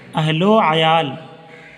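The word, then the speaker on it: اہل و عیال: लिखा तो है अहल व आयाल लेकिन पढ़िएगा अहलो आयाल, यही प्रोनाउंसिएशन ज़्यादा बेहतर है, यही तलफ़ुज़ बेहतर है, अहलो आयाल।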